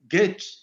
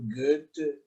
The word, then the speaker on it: Goethe: Goethe é a forma francesa de pronunciar. A Alemanha é Goethe, né? Goethe. Mas os japoneses, talvez por influência francesa, também pronunciam Goethe.